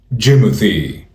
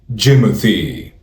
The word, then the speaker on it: Jimothy: It's pronounced Jimothy. Jimothy. Jim-a-thee. Jim-a-thee. Jimothy.